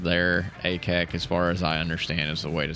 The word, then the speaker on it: Akek: word Ak mean and uh how do you pronounce it?" So, just like I said there, Ak is the way to say it.